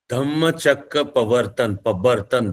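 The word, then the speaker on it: Dhammachakra Pavattana: speech, which is also famously called Dhammachakra Pavartan. This is the Pali Prakrit pronunciation. The Sanskrit pronunciation will be Dharmachakra Pravartan.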